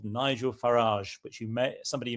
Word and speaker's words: Farage: We don't We don't know We've talked about Farage before. I call him Farage It rhymes with garage, but his name is Farage or Farage.